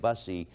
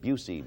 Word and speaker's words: Busey: I pronounced the name of the actor who played Buddy Holly as Gary Busey. I've been told to correct it. It's Gary Busey, because if Gary Busey hears me pronouncing it Busey, he will not be a must.